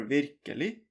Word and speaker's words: virkelig: Such as here, virkelig. You don't say the G. Because it's ending with G.